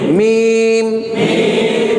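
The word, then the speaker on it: ميم: তাইলে হরফের নাম হচ্ছে মিম মিম মিম মিম মিম দুই ঠোঁটের শুকনো জায়গায় থাকে মিম মিম মিম মিম মিম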